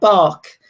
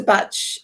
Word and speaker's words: Bach: realize that actually it's it's called Dr bat not to not bark because Dr batch um when he saw